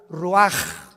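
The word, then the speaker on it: ruach: exhaló Isaac el Roach así como suena se pronuncia la c en hebreo como J ruaj se le só y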